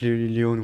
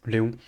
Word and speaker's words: Léon: Yeah, I have seen it, but in French it's just Léon. It's not Leon, whatever, it's Léon.